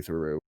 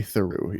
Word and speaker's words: Theroux: really been doing a lot of is Louis Theroux, which I actually bought a VPN you to kind of watch. cut out for me. Sorry. He's a documentarian called Louis Theroux. Louis Theroux? Louis Theroux, yeah.